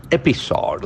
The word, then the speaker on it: episode: generate to multiple meanings Modi marks hundreds of episodes that is a very interesting word so see